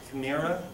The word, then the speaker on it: chimera: Also, when God gives out the soul to people, this first word, it's pronounced chimera.